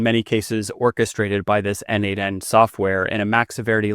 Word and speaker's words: n8n: Uh there is a platform called N8N. It is kind of a workflow automation platform. I've sometimes heard it pronounced Nathan.